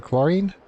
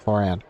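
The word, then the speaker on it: Clorinde: remark hey it's uh was it chlorine no choran choran yes that's what I'm trying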